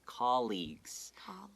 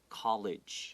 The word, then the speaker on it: colleagues: it's spelled c-o-l-l-e-a-g-u-e-s and don't say this word as college a lot of my friends say that oh he is my college no college it's called league of